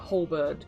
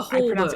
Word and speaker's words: halberd: of like a halberd kind of thing, which I don't think is how you say it, but like a halberd.